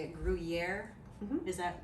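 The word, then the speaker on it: Gruyère: i don't even know how to say it gruyere is that right yes cheese that is the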